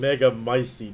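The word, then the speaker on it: Megamycete: catalogs all of us mega micey that's how you pronounce it however she will be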